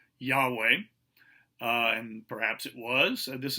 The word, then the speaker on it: Yahweh: an educated guess and they suspect that the name was pronounced yahweh and perhaps it was